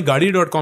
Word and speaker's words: Gaadi: तो हमारी स्पेलिंग थी GAADI, वो प्रोनाउंस करते थे GADDI.